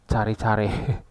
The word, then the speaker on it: caricare: Tulisannya gitu, CARICARE. Bacanya cari-cari.